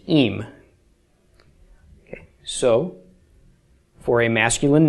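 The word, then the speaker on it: ים: Pronounced im.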